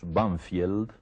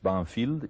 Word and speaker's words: Banfield: de Buenos Aires que nosotros pronunciamos vanfiel pero que tiene un nombre inglés banfield y ese nombre inglés